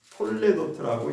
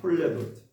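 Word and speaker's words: תולדות: 히브리어로 이게 무슨 말씀이냐면 톨레도트라고 읽습니다. 톨레도트.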